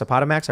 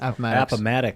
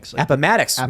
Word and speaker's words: Appomattox: happening at a pet a padamax a potamax i pronounce it Appomattox Appomattox way off yeah that's right uh